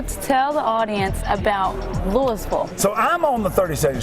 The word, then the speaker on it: Louisville: It's not in Kentucky. That's Louisville, but it's spelled exactly like Louisville. Right. But it's Louisville, and I would say